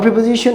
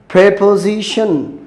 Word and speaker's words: preposition: বলে নেই আচ্ছা নন প্রেপজিশন এটা কি সঠিক উচ্চারণ প্রেপজিশন আচ্ছা নট প্রিপজিশন এটা এটা সঠিক উচ্চারণ প্রেপজিশন exactly it's নট প্রিপজিশন অনেকেই বলে আচ্ছা বাঙালির